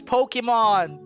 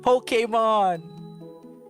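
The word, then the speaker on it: Pokémon: thing on the top, the E with the ahoge on the top, is meant to be pronounced right? Pokemon. Oh well, life. Oh hey, this thing. No, it's just style points. No, it's Pokemon!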